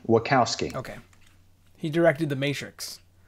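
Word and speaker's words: Wachowski: holes asher what housekee what jokowski is it how do you say it oh it's um wakkowski okay he directed the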